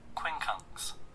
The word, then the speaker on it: quincunx: Quincunx.